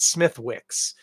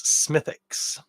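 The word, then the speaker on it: Smithwick's: you probably call it Smith Wicks but in most cases uh we don't pronounce the W in those British place name pronunciations or Irish in this case so for instance it's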